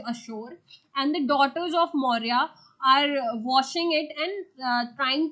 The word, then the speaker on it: Maurya: name of the lady maurya maurya or if you will see the Irish pronunciation of maurya it is Moira okay the Irish pronunciation of maurya is Moira so more uh there